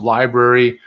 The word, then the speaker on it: LBRY: by the way um it's called lbry it's pronounced library um or odyssey odyssey